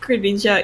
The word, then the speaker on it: Greninja: It's just that whenever you pick Greninja in the new Super Smash Bros. Game, the announcer sort of goes, Greninja, and like the emphasis is on Nin, and I just wanted